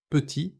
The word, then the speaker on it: petit: Petit se prononce petit sans le t final.